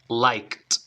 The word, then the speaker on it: liked: final escucha like I like Okay entonces like liked ya practícalo mucho practícalo mucho ya lo tienes